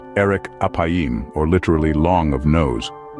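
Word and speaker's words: ארך אפים: the phrasee slow to anger in Hebrew is pronounced Eric apim or literally long of nose but what does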